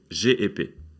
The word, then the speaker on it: CHP: İmamoğlu et son parti, le CHP, mais qu'il faut prononcer GEP.